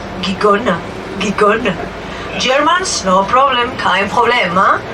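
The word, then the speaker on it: Gijón: Gijon is how you pronounce it, so we just found out it's not Gijon, it's Gijon.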